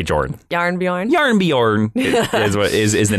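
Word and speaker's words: Jarnbjorn: close you're very close it is yarn Bjorn yarn yarn Bjorn is how you say that is that is the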